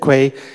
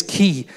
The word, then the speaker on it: quay: Cormier and company called they're mispronouncing the term and that includes the guided invented Quay it actually is key and it fits in